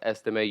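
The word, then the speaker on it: Estimé: class is loaded audrick estimate I've someone told me it is pronounced estimate you do pronounce the T I don't know why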